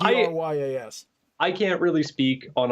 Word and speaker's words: Dryas: So it's spelt almost like it sounds. It's pretty close. So it's Dryas.